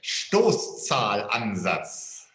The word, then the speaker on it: Stoßzahlansatz: Stoßzahlansatz.